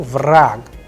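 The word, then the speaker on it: враг: means people raag here you will see that is changing into k rag the sound is of k at the end so vrag likewise in the word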